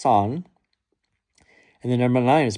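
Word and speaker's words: 三: This is because the number three is pronounced son and the number nine is pronounced Q.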